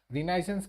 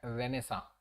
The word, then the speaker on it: Renaissance: रिनाइसेंस क्या है? मतलब हम लोग रिनाइसेंस पढ़ते जरूर है, लेकिन इसको एक्चुअली प्रोनाउंसिएशन करते हैं रेनेसा।